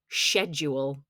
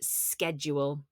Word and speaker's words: schedule: pajamas and relax schedule Americans pronounce this schedule but in the UK we say schedule a plan or timetable